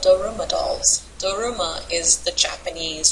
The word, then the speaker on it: Daruma: They're called Daruma dolls. Daruma is the Japanese transliteration for Dharma. That's how the Japanese pronounce Dharma. They say Daruma.